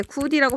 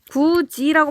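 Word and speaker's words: 굳이: 이걸 누가 귀엽게 구디라고 발음합니까? 구지라고 발음을 하죠.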